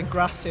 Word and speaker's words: gracias: yeah definitely so they they tend to drop constantly yeah and words so say grassy rather than gracias so what exactly is